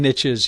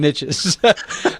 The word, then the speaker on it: niche: like there's riches and niches you know I know a lot of people say Niche but it doesn't rhyme with Rich so I like to say riches and niches um but but here's